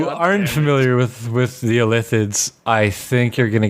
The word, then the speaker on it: Illithids: It is Illithids. With an emphasis on the second syllable.